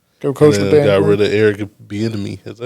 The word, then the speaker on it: Bieniemy: rid of Eric Bieniemy. Is that how you pronounce the last name?